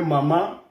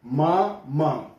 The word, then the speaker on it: mama: Não é mamá, mas sim mama.